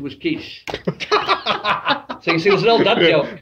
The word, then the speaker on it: quiche: her i wanted a quickie but the correct pronunciation was quiche so you see there was an old dance